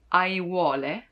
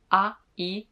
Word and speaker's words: aiuole: But if you make it plural, aiuole, a-i-u-o-le, aiuole, then you can practice all the vowels all together.